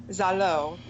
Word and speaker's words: Zalo: thing to my mind, Zalo, the name of my hometown, where I was born, where I grew up, pronounced like hello.